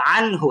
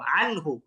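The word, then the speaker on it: عنه: তো আনহু এখানে আমরা গুন্না ছাড়া এটাকে স্পষ্ট বলব। 19 এর মত কোন উচ্চারণ হবে না। এটাকে স্পষ্ট আনহু।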